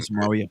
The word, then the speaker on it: Samaria: Woman of is it Samaria? Is that how you pronounce it? Yeah. Mm-hmm. I mean, Samaria.